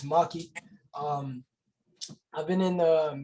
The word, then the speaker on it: Maxkii: um i am uh when you see my name it might look just look like it's pronounced max key or max guy maxipad there's a bunch of different things people would say but it's maki um i've been in